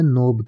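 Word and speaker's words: knob: में आप नोट या नोब कह सकते हैं के एन ओटी नोट या के एओ बी नोब दोनों में ही के साइलेंट होता है इसके अलावा जो शरीर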